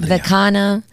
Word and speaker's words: Vikina: There's no N. People love to Vikina. people butcher the pronunciation. Vikina. Vikina, or they say Whoa. Vikina, like if it's a piña, Like a little like a little piñas.